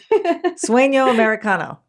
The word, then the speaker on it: Sueño Americano: I wanted to talk about your work you did called Sueño Americano, American Dream. I probably said that wrong. Help me with my pronunciation. Yeah. Sueño Americano.